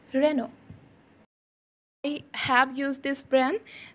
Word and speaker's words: Renault: Renault बोलते हैं. No, it's Renault. T is totally silent. It's Renault.